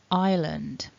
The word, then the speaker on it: island: the strongest syllable island so that first syllable then it's a double vowel i i so what you need is you need some movement in the shape of your mouth in order to pronounce this correctly repeat after me i with that second syllable then we begin with the and we've got this schwa sound afterwards and then the last two um sounds that that contribute to